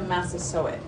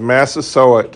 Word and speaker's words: Massasoit: How do you pronounce his name? Mm-hmm. Related to Massasoit.